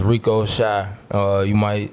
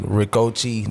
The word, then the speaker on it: Recoechi: My name is Rico Shy. Some people think I'm like Ricochi. They see it, they pronounce it Ricochi. You think he dochi? But she's fire. It's Rico. Yeah. She's amazing. It's Rico Shy.